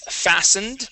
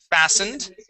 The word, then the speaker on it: fastened: This word here is fastened. The T is silent. Fastened.